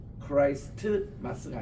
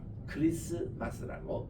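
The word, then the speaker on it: Christmas: 그래서 우리 영어 가르칠 때는 거기에 크라이스트 할 때 T 끝이 앞에 S와 그 다음에 시작하는 M 자음과 자음 사이에 T가 묵음이 됩니다. 그래서 크라이스트 마스가 아니고 크리스마스라고 그렇게 읽지 않습니까?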